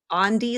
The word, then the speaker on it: Andy: It's really misleading because it looks like Andy, but it's Andee like Gandhi, but without the G.